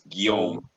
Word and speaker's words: Guillaume: it so so yeah it's my real name in french pronounced very badly in english so what is it my name is william right right william and then in french it's guillaume g-u-i-l-l-a-u-m-e hmm okay for